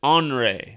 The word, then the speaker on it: Henri: Hurricane, it looks like Henri with an I, right? But the way they're pronouncing it is Henri, like it's Henri. It's angry. Hurricane angry.